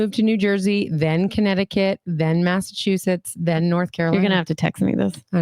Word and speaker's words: Connecticut: It sounded like you put an extra K on there, but yeah, Connecticut.